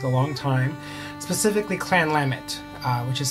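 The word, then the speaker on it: Lamont: long time specifically Clan lamit uh which is spelled l a m o n t uh pronounced lamut as in like lamb and the word it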